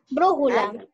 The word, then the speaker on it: brújula: Brújula. Alegría. Brújula. Alegría. Brújula. ¿Lleva tilde?